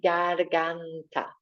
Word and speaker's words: garganta: And in Spanish, this word is la garganta, like gargling.